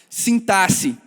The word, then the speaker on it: sintaxe: Eu aprendi recentemente que o certo é se falar sintaxe.